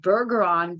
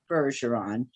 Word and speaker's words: Bergeron: am pronouncing it correctly i thought might be bergeron but no it's a soft g and it is indeed harrison bergeron um the first question